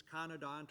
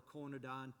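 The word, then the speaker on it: conodont: uh by the way pronunciation it's conadant or conadont and i worked with these things hearing both versions from different people i work with so i'm going to slip back and forth ignore it pick out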